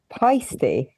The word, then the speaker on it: Paiste: Also, is it pasty or Paiste? Yeah. How do you say it? Paiste.